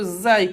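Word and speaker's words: زاي: La lettre ici, c'est la lettre Zai, comme la lettre Z.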